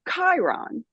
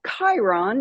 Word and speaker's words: Chiron: said we are from Chiron never heard of Chiron in my life but I heard it with my inner hearing I guess with that hard CH that that k sound but I I knew